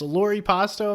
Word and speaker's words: Loripasto: And it's Lori Pasto.